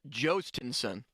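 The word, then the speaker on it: Jhostynxon: His first name is pronounced Jostinson. Jostinson Garcia.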